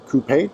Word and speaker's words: coupe: 2024 m850i X Drive Coupe or coupa depending on your preference for pronunciation this was a customer